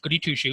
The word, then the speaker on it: Gudyshucz: So one who studies well, her name is spelled Gudyshucz, or pronounced Goody Two Shoes.